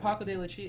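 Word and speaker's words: Paco de Lucía: And Paco de Lucia, how do you pronounce that? Paco de Lucia, Yeah.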